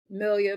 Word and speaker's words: Melia: Melia, but y'all call me Coach Yeah.